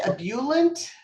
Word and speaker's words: ebullient: How do you say ebullient? Ab- Ebullient. Ebullient. Okay, Mhm. ebullient. Wow. Okay. It Yeah. has sound, maybe has a little French pronunciation to it.